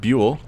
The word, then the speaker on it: ByuL: I had to look up the pronunciation for Bule just to make sure I was getting it correct. It is in fact Bule.